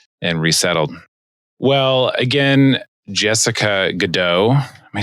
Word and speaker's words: Goudeau: Well, again, Jessica Goudeau.